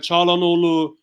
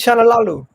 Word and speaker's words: Çalhanoğlu: timeline earlier that maybe Çalhanoğlu could be a possibility or an option.